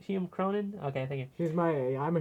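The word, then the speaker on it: Hume Cronyn: But yeah, and Hume Crone as Rupert Horn, the great uncle of Montgomery, who pre-records the challenge to Brewster. That's Cronin. Did I say the name wrong? Hume Cronin?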